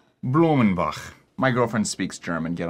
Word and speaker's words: Blumenbach: How do you pronounce that guy's name? Blumenbach. Blumenbach.